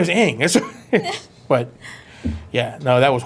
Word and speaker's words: Aang: Ong. Like Ong. Right. I'm like, it's not even like a bad translation. That's what his name is Aang.